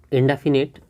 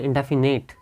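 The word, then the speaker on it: indefinite: अगर आप इंडेफिनिट बोलेंगे तो इसका मतलब ये हुआ कि इंडेफिनिट एक तो ये हो गया, और एक बोलते हैं इंडेफिनेट, NATE, तो ये गलत हो जाएगा निश्चित तौर पर। इंडेफिनिट होता है FINITE, तो ये उच्चारण से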